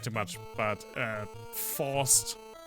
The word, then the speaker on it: Faust: But Faust. In German, it's pronounced Faust, and it's the word for fist.